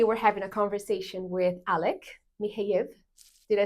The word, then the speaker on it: Alek Michejev: Today, we're having a conversation with Alek Michejev. Did I say it right? Yes, you did. Alek Michejev.